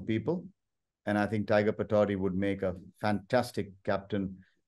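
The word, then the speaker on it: Pataudi: for my own sake uh how would you pronounce the name again tiger Patrol tiger was a nickname he picked up at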